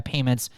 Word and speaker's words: PYMNTS: Again, this is a recent survey and study by Payments, and they spell it PYMNTS.